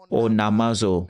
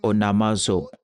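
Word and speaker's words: onomazo: Quiconque prononce le nom du Seigneur, cela vient du mot grec onamazo, onamazo, O-N-A-M-A-Z-O, onamazo, ce qui veut dire faire une revendication.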